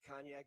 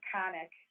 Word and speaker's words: Conic: Cognac, Onondaga area Republican, Libertarian. Welcome. How are you doing today? Hi, Tim. I'm doing really well. You butchered my maiden name, Conic.